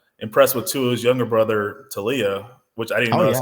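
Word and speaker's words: Taulia: And then the other one, I'm kind of impressed with Tua's younger brother, Talia, which I didn't know that's how you pronounce his name.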